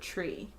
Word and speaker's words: tree: Like, say the word tree. Tree. Like tree. Tree. It turns out that the sound that we pronounce in tree is not a T sound. It's really more of a CH sound.